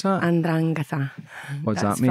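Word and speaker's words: 'Ndrangheta: Yeah, how do you pronounce that? Andrangheta.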